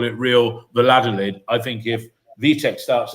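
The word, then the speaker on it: Valladolid: Biodel. At the beginning is with a B and at the end it's like a leaf. Biodel leaf.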